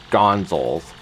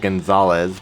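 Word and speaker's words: Gonzales: I stated at the start of the chapter that when I was young, I used to pronounce it as Gonzals instead of Gonzalez because I didn't know Gonzalez was a name.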